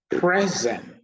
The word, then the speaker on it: present: We have present, the noun, the stress is on the first syllable. Present, the verb, the stress is on the second syllable.